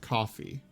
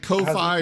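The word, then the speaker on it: Ko-fi: patreon to coffee and he does not seem to understand that it is pronounced coffee you know the KO - a fly yeah he's like KO phi or coffee or whatever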